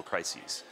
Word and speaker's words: crises: report from the World Economic Forum actually I mispronounced that crises it's actually an e it's multiple crises so this is a big number it's I'm